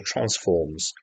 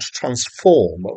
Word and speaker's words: transform: this word is not transform with the emphasis on the second Sy but transform with the emphasis on the first syllable and it's a mathematical